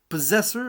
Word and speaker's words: Possessor: y a quelques semaines, le fameux Possessor, ou en anglais Possessor. Oui, je donne des petits cours de prononciation comme ça à la volée, ou au débeauté, comme